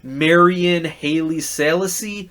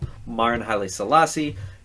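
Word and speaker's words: Maren Haile-Selassie: Marian Haile Selassie. No, Marin Haile Selassie.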